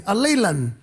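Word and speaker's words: ἀλλήλων: The other word is allelon, A-L-L-E-I-O-N, allelon, which means one another. So if you combine in and allelon, it is on, at, or by both parties.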